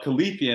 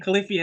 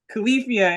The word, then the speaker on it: Califia: the characters nice and I have to correct myself because I've been saying khalifia is K IIA califia in the Timeless centuries